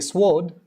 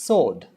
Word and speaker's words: sword: you have sword sword i know many people say sword but it's sword two it's not pool